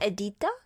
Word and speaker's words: Editha: Edita? How do you pronounce it? Editha? Yeah, Editha.